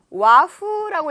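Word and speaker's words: 和風: 자, 그 다음에 요거는 좀 중요한 단어인데 와후라고 읽을게요. 와후예요.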